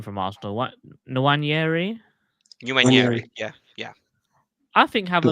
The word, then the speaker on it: Nwaneri: How do you pronounce this guy's name from Arsenal? What, Nwaneri? Nwaneri, yeah.